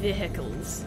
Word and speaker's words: vehicle: let's look at some vehicles vehicle is a funny is a funny word it should be spelled like h i